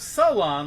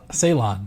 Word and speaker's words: Ceylon: what did she say she pronounces it instead of Salon like everybody else right Ceylon yes interesting and you know who